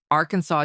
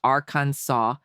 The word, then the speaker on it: Arkansas: Arkansas takes pronunciation seriously. By law, it must be pronounced Arkansas, never Arkansas. The rule was set in 1881 to preserve the French heritage of the name.